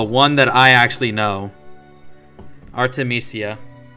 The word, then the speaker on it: Artemisia: there you go just say it like that Artemisia yeah exactly it's literally just Artemis With Pizzazz oh there you go see it's fine just sound it out man Arte Me Sia Aki goes first